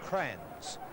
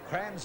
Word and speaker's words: Kranjc: Geelong West, and the pronunciation of the fellow number 4, Kranjc, is Crans. Crans is the player for Geelong West there.